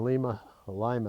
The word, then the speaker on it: Lima: Almost got killed in a railroad crossing, and got marooned in Lima, they pronounce it, Ohio, overnight in a motel, which when you're on your honeymoon isn't the worst event.